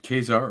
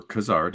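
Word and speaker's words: Ka-Zar: in that issue of Kezar or Kazar depending how you like to pronounce it 11 and 12.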